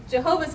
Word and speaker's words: Jehovah: just means my lord the jehovah's witnesses they actually took the the words of yahweh except they pronounced the y as a j and then they took the vowels of adonai and they got jehovah um so um so